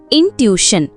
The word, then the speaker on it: intuition: இந்த வேர்டை எப்படி ப்ரொனவுன்ஸ் பண்ணணும்னா இன் டு இ ஷன். இன்ட்யூஷன் இது ஒரு நவுன்.